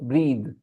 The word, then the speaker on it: breathe: it breath okay and if you put a e an e here then it changes its pronunciation completely it becomes breathe bre breathe breathe it